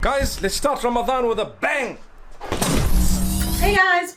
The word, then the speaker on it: Ramadan: the holy month it's Ramadan okay you got to roll your R when you say it um if you don't